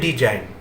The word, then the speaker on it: design: কিন্তু বাংলাতে লেখে ডয়রস্যি বর্গে জয়কার হর্ষই দন্তের ন, উচ্চারণ হচ্ছে ডিজাইন। এই উচ্চারণ আর এই বানান, এটা মানে হচ্ছে ইংলিশে খারাপ করে দেওয়া।